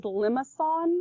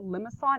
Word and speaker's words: limaçon: This word is limaçon. That's how you say it, limaçon. And the C actually has like this weird tail thing on it.